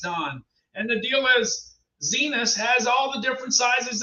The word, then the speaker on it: Zinus: In fact, the Zenus, and it's pronounced Zenus. I thought it could have been Zinus, but it's Zenus because that's what the video says.